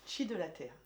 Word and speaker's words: Qi de la t'Hair: Oui, chi la terre c'est énergie de la chevelure. Voilà. Terre c'est pas t E 2 R E, c'est T apostrophe H A I R.